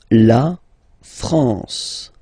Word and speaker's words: France: La France. La France, okay? A-N here, nasal en.